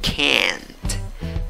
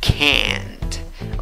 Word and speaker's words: can't: Acá sí, con la A que se ríe, se escribe con cuatro letras, pronuncias esto con cuatro sonidos y tienes la A que se ríe, can't, can't.